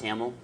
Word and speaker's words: Hamiel: to pronounce his name but I am Nathan Hamel I am a yes it's pronounced Hamill I'm a principal consultant on fishnets application security